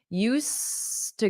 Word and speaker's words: used to: I used to go but notice my pronunciation I used to go Ed to go that D is completely silent used to go I used to